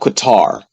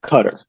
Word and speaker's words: Qatar: Africa um Turkey um cutter it's not Qatar it's cutter it's for us Americans that just disrespect the way other people's countries uh are pronounced um and and maybe